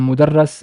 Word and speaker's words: mudarras: this this part so just one vowel changes everything from mudarris is a teacher and mudarrass is something that is taught like a subject or or a topic the Arabic short vowel